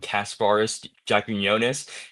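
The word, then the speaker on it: Kasparas Jakučionis: for getting the steal of the draft and Casparis Jakunis, that's how you pronounce his name.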